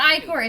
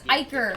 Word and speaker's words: Iker: you staring at me it's not icore it's Iker he just said I could work that doesn't mean that it's the correct pronunciation it is pronounced both ways I don't [ __